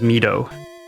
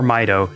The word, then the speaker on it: Mido: So, this is fairy town, also known as Mido or Maido, depending on how you want to pronounce it.